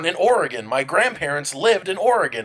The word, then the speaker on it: Oregon: says right here uh it's oregon not oregon or oregon where you pronounce the e or the g-o-n see see this time